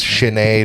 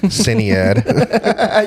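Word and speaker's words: Sinéad: You didn't tell me it's it's Chenade O' Conor, not Cinead.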